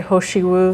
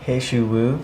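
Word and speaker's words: 何首乌: then this one uh the pronunciation of this herb is always up for debate I say hosi wo you say hesi wo or hosi wo hesi wo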